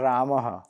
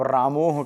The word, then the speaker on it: रामः: लेकिन कोई अगर जानबूझ कर अपशब्द कहे, जैसे कहना है रामः, आप रामोह कह रहे हैं, तो ये गलत है।